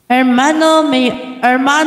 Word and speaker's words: hermano: What is that me hermano Mayor pi exto in Spanish the edge is always silent Okay Vien Vien is